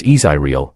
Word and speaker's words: Israel: changed his name to Israel pronounced izyril Hawkins Bill's Church quickly